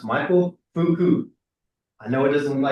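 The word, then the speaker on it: Foucault: His name is pronounced Michael Fuku.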